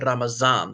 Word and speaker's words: Ramazan: Some people pronounce it Ramazan.